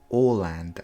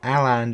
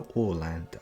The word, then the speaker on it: Åland: So first of all, it's pronounced Åland Islands, not Åland Islands, the Åland Islands.